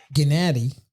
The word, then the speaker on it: Gennady: Gennady, that's how you're supposed to say his name.